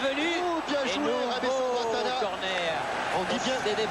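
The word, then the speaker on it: Rabesandratana: Alors, quand on prononce en français, c'est bien Rabé Sandratana, corner.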